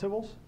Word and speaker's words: tibble: you guys know why Tibbles are called Tibbles because that's the way a Kiwi pronounces table right so the New